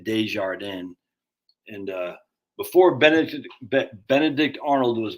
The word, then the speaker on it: Desjardins: That's how you say it, Desjardins.